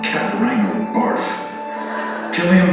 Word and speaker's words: Cillian: Cillian Murphy, not Silly Man Christopher Nolan guy.